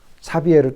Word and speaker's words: 사비에르: 외국 발음이니까 사비에르 또는 자비에르 이렇게 부릅니다.